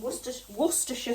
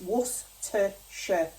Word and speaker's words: Worcestershire: For all my American friends, it's Worcestershire. Very easy, Worcestershire sauce. But please don't stop saying it the way you say it, because I love how you say it, Worcestershire.